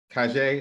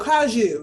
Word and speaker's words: Kaju: Kajay, is that how you pronounce it? Oh, Kaju, yes.